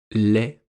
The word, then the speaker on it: lait: Ou dans le nom, lait, L-A-I-T.